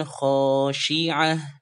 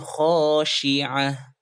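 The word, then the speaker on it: خاشعة: seperti ini wujuhuy yaumaidzin khosyi'ah jangan Syekh tapi Syiah contoh ulang wujuhuy yaumaidzin khosyi'ah ayat ke-3 itu huruf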